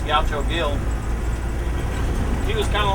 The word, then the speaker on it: Gaucho Gil: Back there, it's for this guy named Gaucho Hill, but it's spelled with a G. I guess Gaucho Hill.